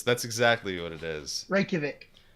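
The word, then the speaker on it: Reykjavík: right it is that's exactly what it is reykjavik reykjavik that's outside right there stands a rock known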